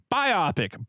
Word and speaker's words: biopic: Biopic. Bio pronounced like in biography. Pick like in picture.